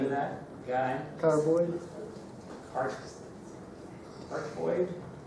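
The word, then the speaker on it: cardioid: Carboid? That's how you pronounce it. I was saying cardboard at first.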